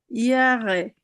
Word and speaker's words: Jahre: ইয়ারে, ইয়ারে, অথবা ইংরেজির মতো ইয়ারে পড়ে ফেলতে পারেন।